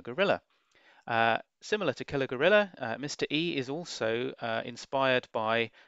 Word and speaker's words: Mr. Ee!: at number 21 it's mr e you have to pronounce the e to denote the exclamation mark at the end of the game now this was a